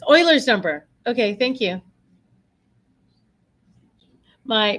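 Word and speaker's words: Euler: So E stands for Oilers's number. I know it sounds like I'm saying oil, but his name is like German or something and it's spelled EU L E something.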